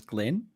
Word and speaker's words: Glyn: How do I pronounce his name? Because it's written Glyn, but I'm feeling like it's a Scottish way of writing Glenn. I asked Glenn, and I'm pretty sure it was Glenn. It's Glenn.